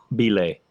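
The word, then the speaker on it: !Xobile: was dealing the cards his name was spelled like exclamation mark x o b i l e the dude's name was Bay he's like dude had a click in his name it was Bay and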